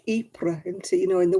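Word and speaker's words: Ypres: to majoraca because they thought they had to pronounce the j yeah times have rolled on though since then yeah it's like eepre into you know in the war um my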